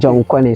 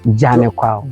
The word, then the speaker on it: Janekwao: The European cannot pronounce the local name, so they use Janekwao to represent Jan Kwao. Oh, okay. John Connie. So when you Google, it will give you John Connie. Connie instead of Janekwao. Janekwao. Yes, please. Oh, okay. Yeah. So that's the right pronunciation.